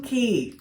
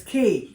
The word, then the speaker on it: Cay: Half Moon Key. Is that how you say it? And it's Key. It's not K or say, it's Half Moon Key.